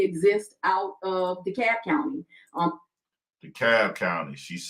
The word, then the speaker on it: DeKalb: DeKalb County.